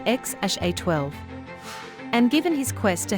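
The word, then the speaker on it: X Æ A-12: names exodox Idol and xaa12 pronounced as x-a-12 and given his quest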